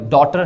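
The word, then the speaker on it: daughter: है तो इसमें देखें जी ए हमारे पास साइलेंट है इस तरह ये ड्राउन है अ सॉरी डॉटर है डाउट भी ऐसे एक वर्ड होता है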